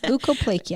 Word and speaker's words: leukoplakia: And something I know you had mentioned before, but I wanted to touch on again was leukoplakia. I said it right, didn't I? Yes, leukoplakia.